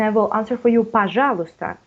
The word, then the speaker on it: пожалуйста: And I think the first is пожалуйста. Пожалуйста. We do not pronounce y.